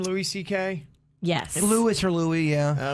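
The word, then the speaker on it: Louis C.K.: louis ck is how you say his name louis ck yes louis or louis yeah okay so he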